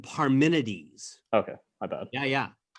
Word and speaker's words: Parmenides: uh and the uh paramendis that's right daniel um i apologize for my pronunciation if i butchered it's all good heraclitus and parmenides okay i bad yeah